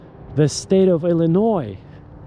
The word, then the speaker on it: Illinois: They say Illinois, which is absolutely ridiculous. It's not even I cannot believe this. This is not some Joe Schmo off the street. These are anchors and nobody corrects them. So if you say Illinois during your job interview with AI, you will never be hired.